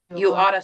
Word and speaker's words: ought to: If you ever hear somebody say this, when we say it really fast, it comes out like that. You oughta search Yelp. You ought. You oughta take your dog out. Yeah, it's one of those things when we pronounce things fast and we just kind of, together.